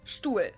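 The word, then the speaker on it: Stuhl: in this list because I personally think that it sounds exactly like the German word Stewart but it's actually a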